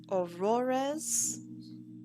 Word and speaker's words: Aurores: I'm gonna say your name wrong off the top or off the rip, so let me say it right. Aurores. Aurores. Yes. Aurores. Exactly as they said.